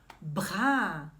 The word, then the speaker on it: bras: O braço, le bras. Le bras. Voilà. Você sabe que em francês a gente geralmente não pronuncia as consoantes finais, né? Le bras.